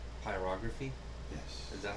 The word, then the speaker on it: pyrography: Pyrography. Pyrography? Yes. Is that how it's said? Yes, you're putting the wrong emphasis on the wrong syllable. Pyrography. Pyropathy.